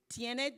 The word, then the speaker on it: tiene: dinero tiene tiempo tiene that's how you say it tiene dinero do you have